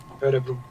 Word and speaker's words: Örebro: How do you say? Is it Örebro? It's like Oh, so no O. No, it's Oh, okay. Örebro.